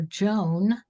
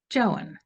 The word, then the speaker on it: Joan: Here in the United States, we would probably call her Joan, but in Uganda, each vowel is pronounced separately, hence Joan.